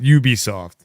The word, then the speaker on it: Ubisoft: It is Ubisoft. I just pronounce it how it's written.